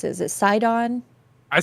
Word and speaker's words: Sidon: So CD Walter 226 says, I don't know how you pronounce it. Is it Sidon? I say Sidon.